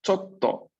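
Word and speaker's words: ちょっと: Entonces el pequeño tsu está antes de to, por ende duplico la T de to. Chotto.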